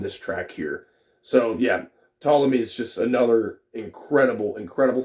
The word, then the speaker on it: Ptolemy: how you say that's p-t-o-l-e-m-y i think it's top like pronounced tall not put all of me but ptolemy maybe i'm wrong i don't know but